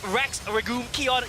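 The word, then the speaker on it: Rex Regum Qeon: times as fun and that's our iq that's rex regul kion yes i've learned how to pronounce their name and they make it work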